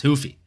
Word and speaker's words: Ruffy: And look, I know the name's supposed to be pronounced Hoofy, but I mean, we should stick with calling him Ruffy the way he puts people to sleep.